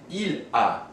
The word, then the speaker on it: il a: For the third person singular, we have il a. These two, although spelled differently, are pronounced exactly the same, a.